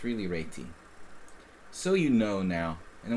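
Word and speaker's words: Réti: I learned chess I always thought it was reti so a lot of people say Rey but it's really Ry so you know now and we'll go back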